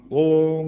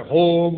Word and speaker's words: ಓಂ: ಓಂ ಅಂತ ಹೇಳಿದ್ರೆ ಹೋಮ್ ಅಂತ ಹೇಳೋರು ಕೇಳಿದ್ದೀರಿ ನೀವು. ಓಂ ಅಂದರೆ ಠೋಮನೋ ಬರೋದಿಲ್ಲ ಅಂತ ಬೈತಾರೆ ನೋಡಿ ಪೂರ್ವಿಕರು.